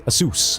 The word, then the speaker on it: Asus: Ladies and gentlemen, here we are in match number three in World of Aces or should I say Asus, which is apparently the correct name, but you know, ah, you know, spelling, pronunciation, not our best thing.